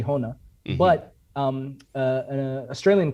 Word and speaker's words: Honā: like so well the the actual name is from sanskrit and you do say honna but um uh an